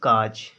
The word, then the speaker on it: cause: अब इसको कायूज पढ़ेंगे, CA का, एस यानी यू एस यूज कायूज पढ़ेंगे तो गलत है, कायूज नहीं बोला जाएगा इसको पढ़ेंगे हम CAUSE काज।